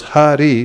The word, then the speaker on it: Hari: Aritas tena yenoktam harir it yakshara dvayam. A person who chants the two syllables Hari, please say, Hari, has already studied the four Vedas, Sama, Rig, Yajur, and Atharva.